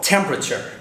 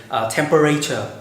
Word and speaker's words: temperature: check the right pronunciation for example temperature that is the correct pronunciation lots of my students often say temperature don't say that the word literature is